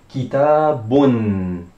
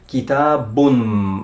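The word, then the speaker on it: كِتَابٌ: Mas o final da pronúncia ficará com a letra nun. Então, um exemplo aqui, kitabun. Não será com a letra mim, como sendo se fosse no caso, kitabun, se fosse bum com o mim no final.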